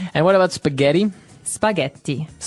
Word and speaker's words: spaghetti: Spaghetti. Spaghetti. Oh, you pronounced the double T as well.